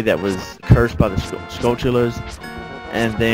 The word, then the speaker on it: Skulltula: Skulltulas, I don't know.